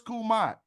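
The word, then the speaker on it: Kemet: Where is Kumat? That's how we pronounce it.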